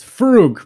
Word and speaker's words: Frog: There's a scene where you see Vernon interact with the constable here, and his last name is Frog, or as he says, Frug, but it's spelled Frog, and Vernon calls him Frog.